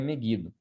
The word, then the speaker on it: Megido: né, ou Megido, né, a pronúncia correta seria Megido, que é um local estratégico ali para batalhas.